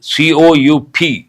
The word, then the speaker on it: coup: What is the spelling of that word? COUP. But P is silent, coup. Corruption campaign.